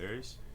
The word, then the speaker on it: ERYS: Yeah, no, because he pronounces it ERYS. Oh, he does? Yeah. Okay, ERYS it is.